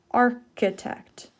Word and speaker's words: architect: hear these words architect usually CH says sure but here it says architect someone who designs buildings